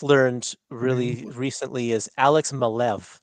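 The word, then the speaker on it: Maleev: that I just learned really recently is Alex malev not malie Curtis like uh because before I did an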